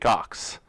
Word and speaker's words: Ochs: So it's pronounced, so I'm glad we were able to qualify that when we started.